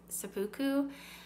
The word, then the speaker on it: seppuku: So there's a lot of talk about, I think it's pronounced seppuku, of like ritual suicide, of beheading, of monsters and demons and ghosts.